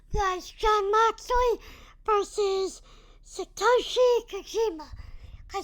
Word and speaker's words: Kojima: Next match was Jon Moxley versus Satoshi Kojima.